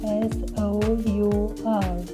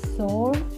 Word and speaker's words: sour: Today you are going to learn the correct pronunciation of the word that is made up of S-O-U-R. This word is usually mispronounced as sour or saw, but the correct pronunciation is sour.